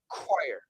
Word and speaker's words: choir: Chore, chore, and chore, choir. So chore, it's a long O plus R, chore, and choir. Choir. It's a K, and it's like a long I plus R.